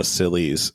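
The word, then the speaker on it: Scilly: I do want to say that the Scillies, and even though it's spelled totally different, is a silly name for some islands.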